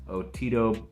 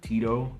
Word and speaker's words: Otito: player, the defensive tackle Otito Ogbania, I believe that's how you say it. They've all been calling him Tito instead of Otito, so I guess that's